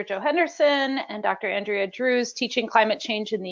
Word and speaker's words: Drewes: Yep, just Drewes, like rhymes with cruise.